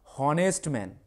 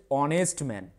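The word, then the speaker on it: honest man: উচ্চারণটা তোমরা ফলো করো এইচ যেহেতু আছে আমাদের উচ্চারণ কি হওয়া দরকার হনেস্ট ম্যান কিন্তু উচ্চারণ হচ্ছে অনেস্ট ম্যান তাহলে ও এই কনসোনেন্টটা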